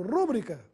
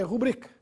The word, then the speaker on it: rubrica: a essa última palavra tome cuidado com a sua pronúncia pois já ouvi muita gente falando rúbrica por aí a palavra é rubrica tem a sílaba tônica na sílaba bri portanto é uma paroxítona eí sem acento gráfico